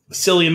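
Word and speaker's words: Cillian: it I feel like we ourselves have gone through silan Murphy versus Killian Murphy and I was listening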